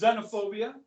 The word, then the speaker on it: xenophobia: didn't already know it pronounced xenophobia starts with an axe okay think that'll be